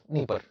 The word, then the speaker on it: Dnieper: D-N-I-E-P-E-R. Dnieper. Okay. So Dnieper, D silent, Dnieper River.